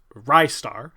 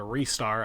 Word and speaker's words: Ristar: a hidden gem was there's kind of two ways I guess you could pronounce it I've heard it both ways but ristar RI st AR which was released in 95 it's also said as a restar I've heard that a couple of times I don't know